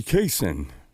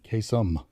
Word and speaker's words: Kasem: Ladies and gentlemen, Casey Kaysen. Nobody remembers. Casey Kasem. Casey Top Kasem, 40. you pronounced it wrong.